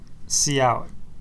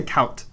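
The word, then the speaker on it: cout: write c u t how do you say that see out okay that's how I say it as well but some people say count those people I know people who say C I don't want to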